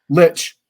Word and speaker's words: Lich: the war of the Lish leash Lish Lich Lich there you go this gets harder to get pronunciation when you're hard of hearing uh one